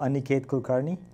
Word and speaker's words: Aniket Kulkarni: everyone does on a Cates I think it on a kata Kulkarni that's right okay would you pronounce it now I'll pronounce it I usually do Anna Kate Kulkarni that sounded approximately what I say yes that's